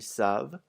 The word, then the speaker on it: savent: Also notice that the ENT isn't pronounced on either of the il with an S or the l with an S. Never ever in French is the ENT pronounced in a verb.